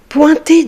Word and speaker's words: pointer: Pointer du doigt, c'est faire un geste pour montrer quelque chose. Pointer du doigt. Le mot pointer, avec les lettres O, I, N, vont former le son ouin.